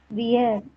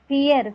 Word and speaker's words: vier: இது என்ன சொல்வீங்க? வியர். வியர் சொல்லக்கூடாது. வி வந்து என்ன ப்ரொனவுன்ஸ் பண்ணனும்னு சொல்லிருக்கேன்? ஃபியர். ஃபியர். எஃப் ப்ரொனவுன்ஸ் பண்ணும்.